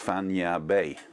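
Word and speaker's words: Fañabé: accent on it, so that's where the word actually has the accent at the end. So it's Fanya Bay, like San Francisco Bay.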